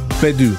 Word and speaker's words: Gbedu: Bedu. The G's kind of... Is it silent? The G's kind of a little bit silent. You okay, know, because Bedu.